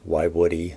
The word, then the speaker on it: Woiwode: to pronounce it i was told how to pronounce it so why woody as the proper pronunciation at least that's my